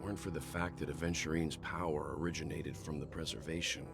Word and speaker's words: Aventurine: Also, can I just say, it's a little just pet peeve of mine when people pronounce Aventurine as Adventurine.